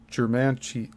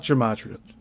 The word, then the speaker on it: Germantia: But it is apparent that Ed Leedskalnin was a practitioner of the ancient sciences of Germantia, not gematria, Germantia, and geomancy.